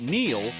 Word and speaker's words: Neil: It's no coincidence that Neil rhymes with deal, because that's something you